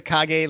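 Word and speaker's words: Kage: uh okay I'm I'm is it KAG it is KAG that is that is Japanese for shadow because it is designed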